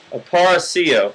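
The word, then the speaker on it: Aparicio: on my ass about not being able to pronounce his name Luis aparaccio aparacio that's it thank you something like that what's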